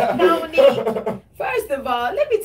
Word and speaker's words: Connick: She said cognac. No, it's not cognac. It's Connick.